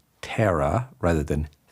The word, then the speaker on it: Thera: e r a by the way pronounced terra ra ra ra ra